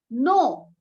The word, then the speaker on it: know: Know, what does word know means here? Know, K is silent, K-N-O-W, know, ज्ञान या जानना, more about के बारे में और जाने, किसके बारे में?